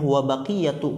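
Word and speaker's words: وبقية: hari ini kemudian waaqiyatu lihat di sini bacanya wabaqiyatu karena wau di situ istinnafiah jumlah baru wabaqiyatu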